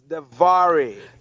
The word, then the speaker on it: DeVaré: Am I pronouncing the name right? It's DeVaré.